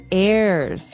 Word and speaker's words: heir: pod, and to his heirs. This is our next word. What is an heir? Now, if you notice, the H is silent there.